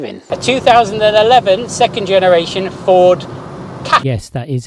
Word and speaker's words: Ford Ka: A 2011 second generation Ford Ka. Yes, that is how it's pronounced.